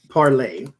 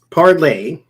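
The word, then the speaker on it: Parler: Just like Parlay, as y'all was telling me, that's how they pronounce it too. Parlay, the guy who created it using Mercer's money,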